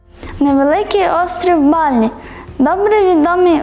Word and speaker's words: Балі: погнали в першу чергу розповів що всупереч поширений серед наших туристів вимові на голодослові балі ставиться на перший склад а не на останні продовжимо тримаючи цю інформацію